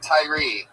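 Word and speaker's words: Tyrhee: A silent H in it. The H, you don't even pronounce it.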